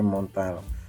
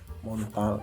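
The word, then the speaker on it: Montale: itu red vetiver dari Montel muntal Kalau bahasa Indonesia muntal ya tapi kalau bahasa Perancis Gimana bacanya montol.men Hai share Paris mirip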